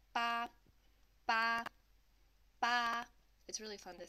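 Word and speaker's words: 八: And then to pronounce this one, it's with the first flat tone, and it's going to sound like ba, ba, ba.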